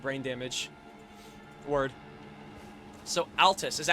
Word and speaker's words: Altus: I was just mispronouncing it. I literally thought I said Atlas. You are right though. You are 100% correct. They did make Persona. So, Altus Plateau.